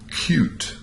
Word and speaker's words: cute: letter E is pronounced cute when an English word ends in the letter E like this one the e is actually silent however because that E